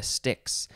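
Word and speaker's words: Styx: ferries the souls of the dead over the sticks and that is the river sticks and stixx is spelled s-t-y-x and there's a band called stix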